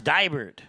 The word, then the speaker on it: Dybert: So it's Dybert. Okay, we got it.